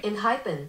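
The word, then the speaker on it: Enhypen: Inhypen.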